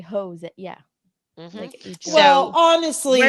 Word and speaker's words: Jose: seen it written right because it's pronounced with a h Jose right phonetically it would be Jose yeah well honestly phonetically